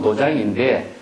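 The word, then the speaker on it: 道場: 그 그 한자로 보면 도장인데 이걸 도량이라고 읽는 것이 일반화되어 있는 것이죠.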